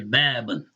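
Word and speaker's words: باب: If a word has one syllable or one form, like when we get to bab, right? We say babun, but the word is bab. The actual word is one syllable. That un sound is only because you have a dhammatain, the tanween of dhamma.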